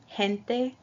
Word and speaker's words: gente: The second one is a soft G, pronounced like an H in English, gente, general.